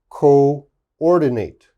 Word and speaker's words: coordinate: the last line okay this says double o but the double o they are pronounced separate okay they are not pronounced together so this word is co-operate co-ordinate cooperate coordinate okay so this is a